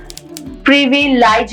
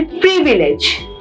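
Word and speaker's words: privilege: Next है प्रिविलेज। प्रिविलाइज नहीं बोलेंगे। That will be प्रिविलेज।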